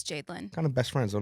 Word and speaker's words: Jadelyn: stuff um we have Jadin is how I pronounce your name correctly Jadin a lot of people say jelin and I'm like it's Jadin yeah I can't tell